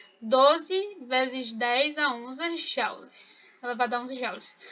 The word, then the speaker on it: joule: Que, na verdade, joules a gente pode falar joule ou july. Joules é errado, digamos assim, a pronúncia.